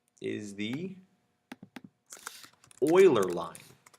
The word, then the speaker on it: Euler: is called is the Euler line it's spelled eul ER it's named for a mathematician Leonhard Euler and even though it's spelled weird that is again that's how we're gonna pronounce it oiler and it just describes